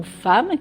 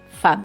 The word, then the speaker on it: femme: par exemple le mot femme qui s'écrit en français f e 2 m e. Si on le décode, on lit fem. Mais en fait, il faut apprendre que ce mot se dit femme.